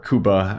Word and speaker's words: Cuba: uh places similar to Cuba or Kuba as it's pronounced there just because like I